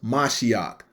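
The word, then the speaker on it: מָשִׁיחַ: Messiah out of that verse is H4899, pronounced Mashiach, meaning anointed.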